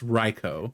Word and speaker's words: Raikou: It's Raikou. It's Groudon. Constantly butchered.